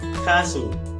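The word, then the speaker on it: 가수: Giok ditambah a, siet ditambah u, dibaca kasu.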